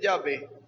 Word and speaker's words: Yahvé: No hay consonantes en hebreo, entonces al ponerle sonido se lee Yahvé.